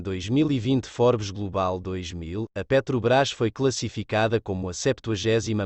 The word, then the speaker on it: Petrobras: petróleo e o brasileiro S Petrobras pronunciado Petrobras é uma empresa de Capital aberto sociedade anônima